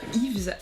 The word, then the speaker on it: Yves: Bon, on va dire Yves du coup parce qu'en Angola c'est Ib. Donc comme il n'y a pas de V et que le V en fait c'est le B, donc on va dire Yves. Comme ça on prononce bien.